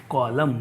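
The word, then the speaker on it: column: कौन यू एम एन ध्यान रखना कभी भी एम के बाद अगर एन आया है तो एन बोला नहीं जाएगा ठीक है एन हमेशा साइलेंट रहेगा जब हम आता है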